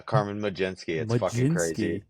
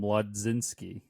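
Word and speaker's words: Carmen Mlodzinski: That's how you say that? Yeah, Carmen Majinsky. That's how they say it. That's how they say it on the broadcast. Oh, I was I never would have guessed. In my head, it's always been Mudzinski.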